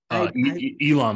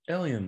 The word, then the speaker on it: Elon: I don't know what he's doing with Twitter Elon Musk yeah Elon well or or does he pronounce it ellien musk no Elon M I just I'm being